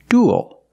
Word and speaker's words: dual: the first word is dual we see uel making the same sound as before like pool and cool and it ends with a dark l because the L is